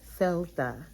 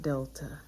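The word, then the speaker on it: δέλτα: here oh and then delta is celta it's not delta i think i just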